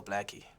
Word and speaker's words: Blxckie: My stage name is Blxckie, so the X is just a stylized A, so Blxckie, yeah.